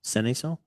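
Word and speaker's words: Cenizo: Seniso.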